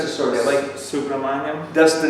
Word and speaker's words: Subramaniam: How do you pronounce his surname? Subramaniam.